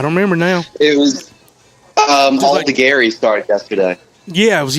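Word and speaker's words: Aldegheri: How'd you pronounce his name? Alda Gary? Yep. Okay, cool. That's how I would have pronounced it if I was reading it out loud.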